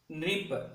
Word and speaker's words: नृप: उसी प्रकार न में री की मात्रा मिलकर जो है नृप, नृप नृप कहने से बजाय आप नृप कह सकते हैं। री का उच्चारण नृप, नृप यानी राजा कहलाते हैं।